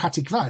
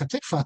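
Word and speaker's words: התקווה: It's not Hatikva, it's Hatikva. That's actually Ashkenazic as well, with the pronunciation.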